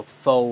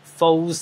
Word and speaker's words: faux: 咁咧，faux 咧就讀 faux 啊，唔係讀 false 啊。嗰個 x 係唔發音嘅，faux 就係